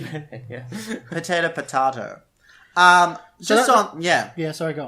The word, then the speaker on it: Melee: So, but, the fact that they've got Melee there still, or Melee, however you pronounce it, there still is like massive. It's over 10 years old. Melee. It's actually Melee, yeah.